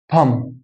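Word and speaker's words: tomb: هنا الام جه بعده بي يبقى البي مش هيتنطق فهنا هقول تم يبقى حرف الام ينطق حرف الميم في اللغه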